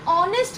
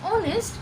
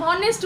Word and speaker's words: honest: অ্যান অনেস্ট বয়, এইচ দিয়ে শুরু, দেখো, তাও আমরা এর আগে অ্যান বসিয়েছি। কেন বলো তো? Because when we pronounce honest the H is silent, H এর উচ্চারণ হয়